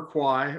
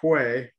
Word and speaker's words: Kwai: so we're on the River Kwai or Quay however you want to pronounce it and it was it